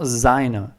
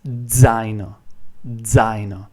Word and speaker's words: zaino: As you can see, I'm not pronouncing it like zaino, like this. Zaino. It's not zaino, it's zaino. And the way I teach this sound is basically you have to imagine that you are pronouncing the D sound and the Z and the Z sound at the same time.